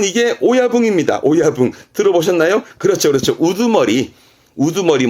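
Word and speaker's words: 親分: 발음은 이게 오야붕입니다. 오야붕.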